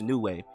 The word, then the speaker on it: Neway: wrong the entire time is not coach news coach new way so excuse us for